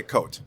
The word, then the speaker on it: Cote: Did I say that right? Cote. Cote. Or you can say coat.